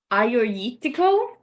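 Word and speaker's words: Agiorgitiko: Um, I believe it's Aayoritico. Um, I don't think you pronounce the G's like you want to pronounce them.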